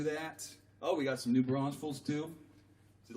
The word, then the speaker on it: New Braunfels: I said new braunfels I say it like ray Wylie every once in a while he has problem saying new braunfels without the extra s he likes to say